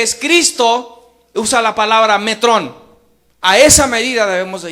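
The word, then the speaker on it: μέτρον: Metrón.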